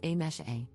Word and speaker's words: Amise: For context, my name is written as Amise, but is pronounced as A-mesh-A.